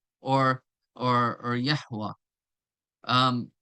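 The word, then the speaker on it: Yahweh: it's pronunciation ation as Yahwa or or or Yahwa um not Jehovah they they add the J when they came into English right uh or or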